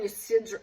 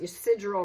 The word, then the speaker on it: Ysidro: Yeah, she left that San Ysidro, I think it's pronounced Ysidro Ranch.